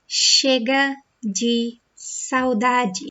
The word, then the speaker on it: Chega de Saudade: This is pronounced Chega de Saudade. So these two letters together in Portuguese sound like sh, okay? Chega de Saudade.